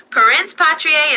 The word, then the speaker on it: parens patriae: Pence patriier is the correct pronunciation.